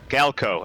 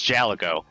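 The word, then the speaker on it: Gaelco: Smashing Drive is a Gallico game. Yeah. Or Galco. I keep wanting to pronounce it like it's Jalico.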